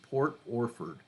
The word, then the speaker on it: Port Orford: And that sounds just like it's spelled, O-R-F-O-R-D, Port Orford.